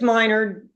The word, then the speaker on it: Minard: from Minard is it minor or Minard it's minor minor great but it's it's spelled wrong okay that's why so you can call me Menard um I had a